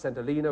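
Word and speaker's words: St Helena: reason I hesitated at the end is it's pronounced Selina which you said s El it was the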